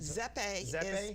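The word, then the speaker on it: Zoppé: You've also had is it Zoppi? Pronounce it Zeppe is the Italian circus.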